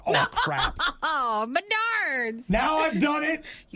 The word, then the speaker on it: Menards: Just keep saying I love being at Menards. You're like, I'm sorry, I'm retraining myself because I say it wrong. Menards. It's regional.